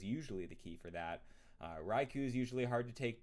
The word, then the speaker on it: Raikou: Raikou rhymes with Raichu.